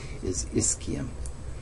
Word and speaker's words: ischium: people call them the sits bones are the ischium and that's how you pronounce this word i-s-c-h-i-u-n is ischium put that in quotes because that's not really